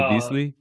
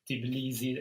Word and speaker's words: Tbilisi: in I can't even, how do you pronounce the capital? Well, Tbilisi? Tbilisi is how I pronounce it, Tbilisi. but I haven't heard anyone from there pronouncing it, so I'm probably butchering It's a it.